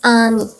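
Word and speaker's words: 아미: I hope you still remember Ami. This at the front. It's actually silent. It's Ami.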